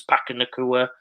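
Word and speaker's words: Puka Nacua: Pakanakua, that's his pronunciation. I've heard about 50 different ones now, but Pakanakua I'll go with.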